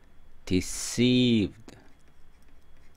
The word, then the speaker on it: deceived: as as 그다음에 deed 자이 단어는 여기 두 번째 액센트가 있어요 그래서 deed 근데 이게